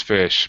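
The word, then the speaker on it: ghoti: Yeah, you read it as fish, bro. What? Because you take the GH from enough. Enough has an F sound at the end, so you take that, put that at the beginning.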